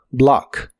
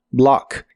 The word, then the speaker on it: block: de inglés es block se pronuncia con la a profunda block block y en el presente